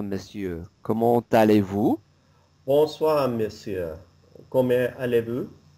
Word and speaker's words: comment: Comment allez-vous? So for the comment, okay, we're going to pronounce the T lightly. And the reason is that the next word starts with a vowel, okay?